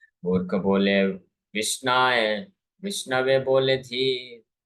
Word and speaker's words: विष्णवे: विषय बोलते हैं और जो अच्छे से कर सकते हैं व विष्णवे बोलते हैं लेकिन दोनों ही समान